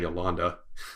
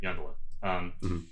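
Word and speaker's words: Yondalla: Yeah, do you know, or Yondala, right? Yeah, that's how I've been. I'm not sure what which syllable gets the emphasis, but yeah. I was saying Yolanda. No, I miss it. Yeah, I get. We're in agreement. Yondala.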